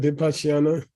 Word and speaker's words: vipassana: it's Okay, vipassana.